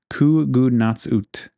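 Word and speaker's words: Qugunatsut: Kugunatsut is the name of it. It's spelled starting with a Q, but it's pronounced, the phonetics is like Kugunatsut.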